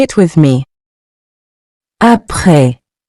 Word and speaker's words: après: Après. Meaning after. Say it with me. Après. Après. You've probably noticed the final S in both words is silent. We don't pronounce it, but it's still there in writing.